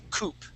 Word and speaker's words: coupe: when you see this this would be coup now if you're talking about a twodo car okay that would have an e at the end and yes we would pronounce that as Coupe like a twoo coupe okay all right remember